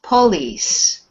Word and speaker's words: police: second one that's right so the stress is on lease police the po is almost like pl please police so the o is is not stressed at all and we put all the stress on the end okay um marco the